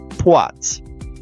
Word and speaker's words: poids: Take the French word for weight, poids. It comes from the Latin pensum, which gave Old French pois, no D anywhere.